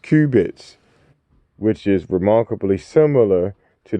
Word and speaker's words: qubits: information that comes in quantum bits or qubits pronounced qubits which is remarkably similar